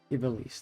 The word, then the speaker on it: Ivalice: Ibelice. That's how you say it.